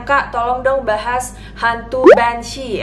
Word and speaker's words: Banshee: Katanya, "Kak, tolong dong bahas hantu Banshee." Emang agak pronunciation-nya agak tricky gitu. Kedengarannya kayak Banshee, kayak banci gitu ya. Tapi sebenarnya bukan banci, tapi kita akan membahas tentang hantu yang bernama Banshee.